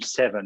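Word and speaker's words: VII: academy both have the name seven and seven is spelt v-i-i so it's the roman spelling it confuses many people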